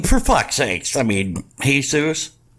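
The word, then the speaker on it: Jesús: three three y but his name actually is Jesus it's pronounced Jesus in this case so does he that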